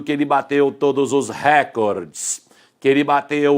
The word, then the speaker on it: recorde: que bateu o recorde quando ele diz dessa maneira ele está pronunciado esta palavra aqui ó acabei de tirar duas letrinhas esta palavra pertence a língua inglesa esta palavra deve ser pronunciada com a antena penúltima sílaba mais forte porém quando transplantamos uma